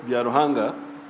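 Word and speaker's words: Byaruhanga: She's called Biaruhanga, but BBC also always says Bairunga.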